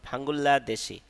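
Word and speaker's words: 방글라데시: এর পরে রিয়েল আসলে ললা উচ্চারণ হবে এজন্য উচ্চারণ হবে ভাঙ্গুল্লা দেশি মানে বাংলাদেশ খাম্বোদিয়া খাম্বোদিয়া মানে কম্বোডিয়া নেপাল মানে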